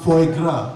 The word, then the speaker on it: foie gras: And the waiter goes, bonjour, that is pronounced foie gras.